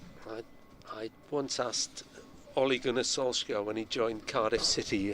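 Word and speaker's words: Ole Gunnar Solskjær: name and he said well if you want to do the Norwegian it's Ole Gun Solskuara something like that.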